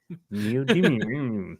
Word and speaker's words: neodymium: One of the rare earths that was left off this list of 17 was what's that correct pronunciation? Neodymium.